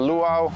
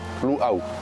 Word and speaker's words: luau: hawaian language speakers perspective so Lu it's often mispronounced as luau right which isn't accurate at all so keep that in mind not luau but luau sounds more haai why why did I choose